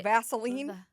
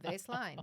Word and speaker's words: Vaseline: you trying to say Vaseline I'm not trying to say that would be the wrong way to pronounce it it's called Baseline v a s e l i n e it's kind of nice